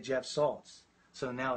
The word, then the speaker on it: Salz: My last name is Salz, S-A-L-Z, as opposed to salt with a T, S-A-L-Z.